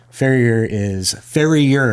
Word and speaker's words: farrier: Farrier, it's multiple syllables, not two.